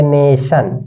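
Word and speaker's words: nation: न इसको आप पढ़ेंगे नेशन क्या पढ़ेंगे ने श न अब देखेंगे जब भी टी आई ओ है तो उसका उच्चारण किया जाता है बड़ा स बड़ा स होता है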